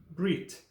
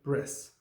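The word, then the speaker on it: ברית: that you already know how to say covenant in hebrew brit or in its ashkenazi pronunciation bris the idea of covenant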